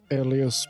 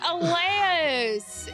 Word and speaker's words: Elias: can still pronounce alias perfectly fine. It is Elias. It is Elias. It is spelled Elias. Elias.